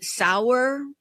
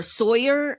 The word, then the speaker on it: Sauer: John Sauer, or Sawyer is how you say his name. I like Sauer better because it looks like that, but I think it's Sawyer.